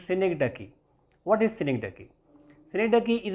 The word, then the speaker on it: synecdoche: Pronunciation of this word is, normally I have heard some people pronouncing this word as Synecdoche or something like that. This is Synecdoche.